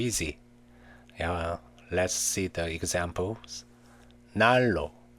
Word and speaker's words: 난로: Nian is pronounced as rear before or after rear. Actually, it's very easy. Let's see the examples. 난로, 난로.